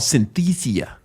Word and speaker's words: Synthesia: how do you say this Synthesia sin it's called Synthesia dot IO all right let me get my